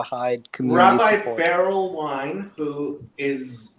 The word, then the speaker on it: Wein: His last name is Wine. Wein.